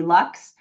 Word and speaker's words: Luks: I know Dr. Lux takes insurance, and his last name is spelled Luks.